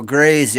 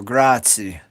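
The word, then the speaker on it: grazie: Oh, so Grazy, I was saying it wrong. So, Gratzi.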